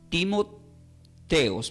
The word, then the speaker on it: Timoteos: Timoteo del griego significa, se puede pronunciar o escribir como Timoteos, pero se divide en dos, se divide en time y en teos. Es time, teos, dividido, pero junto es Timoteos.